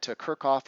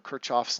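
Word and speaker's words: Kirchhoff: to start looking at kirkoff or kirchoff's laws depending how you want to pronounce it and learn some more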